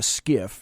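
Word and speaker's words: SCIF: one once you take that out of a skiff now you may not know what a skiff is it's an SCI SF it's pronounced GIF that's called a sensitive compartmented information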